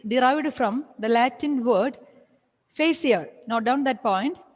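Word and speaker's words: facere: Here, before that, the word fashion is derived from the Latin word facier. Note down that point, facier. F-A-C-E-R-E, facier. The R is silent.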